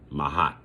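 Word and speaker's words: Maat: 42 admonitions of mahat and mahat is spelled m a a t mahat you know so and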